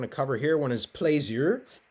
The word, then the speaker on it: plaisir: One is plaisir. Plaisir, that's the French word. I had French a long time ago. I hope I'm getting it close. Plaisir, I think is how it's said.